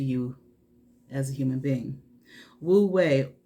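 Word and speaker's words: wu wei: is natural to you as a human being wu way it's it's spelled w u and then w-e-i but this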